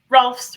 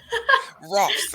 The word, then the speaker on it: Rohlfs: Rohlfs rhymes with golfs. Rohlfs.